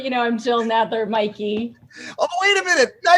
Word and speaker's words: Mikey: another fake name yeah the way that the like the legal spelling of my last name is it's wonky but it's always been pronounced mikey and so i just